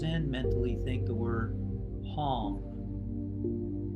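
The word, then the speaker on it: Hong: mentally think the word palm h-o-n-g like a gong that rhymes with gong and as the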